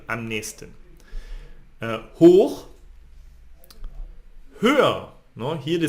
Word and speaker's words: am nächsten: But we pronounce this am nächsten. Almost you don't hear the CH here, am nächsten.